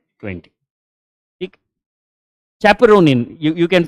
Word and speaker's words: chaperonin: Chaperonin, you can pronounce it as caperonin as well.